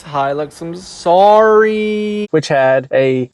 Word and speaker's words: Hilux: So I pronounced it incorrectly. It's Hilux.